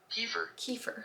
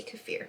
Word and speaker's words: kefir: like I think like some people say kefir hey Google how do you pronounce kefir Kiefer really Beaver Kiefer born in Ukraine we say kefir it's gonna mess me